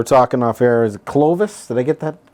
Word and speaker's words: Clovis: So tell us, we were talking off air, is it Clovis? Did I get that pronounced right? Clovis, California, Okay.